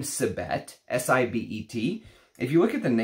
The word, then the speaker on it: Sibet: He's never smelled Sibet. But he said that in other cultures, sometimes the V sound, civet, can sometimes sound like a B, or they pronounce it as a B, right?